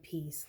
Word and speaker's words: peace: And that gives us the word peace, like a piece of pie.